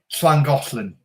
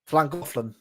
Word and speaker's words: Llangollen: Right, Llangollen. Llangollen. Okay, there you go. Yeah, you've got to have a proper lisp when you say it.